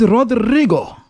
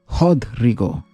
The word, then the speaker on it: Rodrigo: is Rodrigo. Hodrigo, corrected the paraca exasperatedly. It's pronounced Hodrigo.